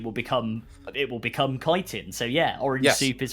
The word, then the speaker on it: chitin: you know also uh bonus points for correct pronunciation of kiteen oh thank you thank you not chitin yeah that's what that's one